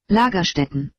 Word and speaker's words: Lagerstätten: I don't speak German, so I'm actually pronouncing it wrong. If you want to say it right, you say it like this. Lagerstätten.